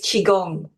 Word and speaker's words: Qigong: that I love because so many people struggle with how to pronounce it. It is Qigong.